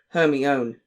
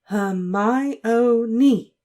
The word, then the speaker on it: Hermione: He kept calling her Hermione. "Hermione," she said slowly and clearly.